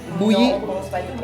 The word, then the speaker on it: Mboui: On prononce pas le N. Bouilly.